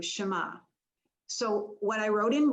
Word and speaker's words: Shema: The Shema, that's pronounced in Hebrew, Shema.